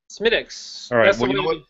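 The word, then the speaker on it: Smithwick's: what is it symmetrics smitics whenever i have to say it up here all right well ladies and gentlemen you know what i'm irish and i'm gonna say smithwicks because i'm pronouncing it phonetically so if that's pissing off any of my fellow drunken horse steve brothers out there so be it it's smithwicks what do you think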